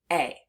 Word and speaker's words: a: Let's do it again, but this time let's say it as the schwa sound.